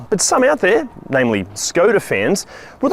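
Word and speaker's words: Škoda: See, Volkswagen own Skoda, or as it's pronounced in its traditional Czech, Skoda, and underneath the sheet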